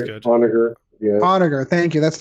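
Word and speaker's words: Onager: So Kris did point out that it is somewhere else, but it's the Onagar, or it's how would you pronounce it? That sounds good. Onagar.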